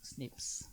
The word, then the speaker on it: SNPs: There's something called S and P, which biologists pronounce SNPs, which is a lot snappier.